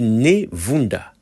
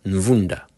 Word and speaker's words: ne Vunda: En fait, c'est écrit Névunda, mais à mon avis, ça devrait sûrement être Nvunda. Par expérience, je sais que les Européens ont souvent du mal à prononcer la lettre N devant nos noms africains.